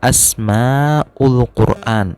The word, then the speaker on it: Asmaul Quran: disini kita bertemu dengan asma ul Quran Kevin ini nih Anton Hai Ayang ada kursornya Teh ada kursornya itu itu bacanya Asmaul Quran asma Apa ya nama-nama